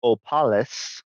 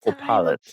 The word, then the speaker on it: Opalis: And it appears Miss Opalis, by the way, you mispronounced her name as well, Sunflower. Her name's Opalis, okay. not Opal.